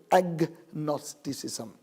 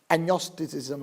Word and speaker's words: அக்னோஸ்டிசிசம்: இல்லை அதுபோல ஏ நியோஸ்டிசிசம் அதை இணைக்கும் பொழுது அந்த கம்மா அல்லது ஆங்கிலத்தில் ஜி உச்சரிக்கப்படுகிறது ஆகவே அக்னோஸ்டிசிசம் என்று சொல்லுகிறோம் புரிகிறதா அனோஸ்டிசிசம் என்று சொல்ல மாட்டோம் அக்னோஸ்டிசிசம் இதுதான் இரண்டாவது நான் உங்களுக்கு